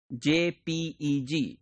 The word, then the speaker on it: JPEG: We use JPEG, J-P-E-G. This is pronounced as JPEG.